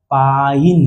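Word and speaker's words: pine: ये क्या हो गया पाइन ये क्या हो गया पा इन समझ गए तो पी आई एन पिन और अगर इ लग जाए तो यह क्या हो गया? पाइन।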